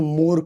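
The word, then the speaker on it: Mohr: इसको कहते हैं मोर का सॉल्ट, मोर सॉल्ट। स्पेलिंग में एच आता है लेकिन बोलते क्या है, मोर सॉल्ट।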